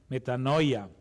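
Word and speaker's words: μετάνοια: es un estudioso del griego Leo Cómo se pronuncia esa palabra metanoia pero dígalo en griego pastor se dice bien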